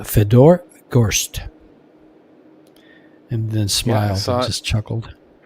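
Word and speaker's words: Fedor Gorst: And Feder goes Fedor goes Fedor Gst.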